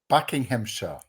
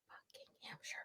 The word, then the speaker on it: Buckinghamshire: Buckinghamshire. Buckingham Hampshire, but four syllables.